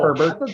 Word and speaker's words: Herbert: pronounce that herbert yeah just straight up herbert was silent i was like a